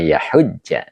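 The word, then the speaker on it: يحجّ: Iya, ini bukan ini bacanya yahujja ya. Jadi tidak yah.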